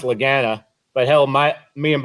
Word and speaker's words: Lagana: offender of saying it wrong but it's it's pronounced lagana but he'll my me and Bob's uh Laura